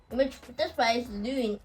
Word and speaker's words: lune: So, if I erase here as well, in the vowel strategy, we have e French lune. Lune, which is rounded position.